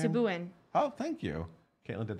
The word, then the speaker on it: Sebouhian: Subuin.